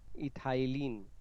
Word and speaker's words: ethylene: Okay, सभी लोग इस प्रोनाउंसिएशन ये वाला ध्यान देंगे, इथाइलिन, इथाइलिन and abscisic acid.